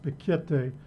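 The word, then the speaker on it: Piketty: serious issue in Thomas I believe it's pronounced pikete we discovered him him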